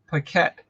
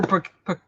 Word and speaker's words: Paquette: So all right, Paquette. Paquette. Tell me, Paquette. You said it right the first time. Okay, I screwed it up. All right, yeah. Well, QU often goes Paquette, like quack quack, but no.